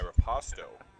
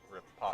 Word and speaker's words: riposte: And for the two of you following along at home, my riposto, is that how you say? Riposto? How do you say it? Riposta? It's a fencing term. Riposte.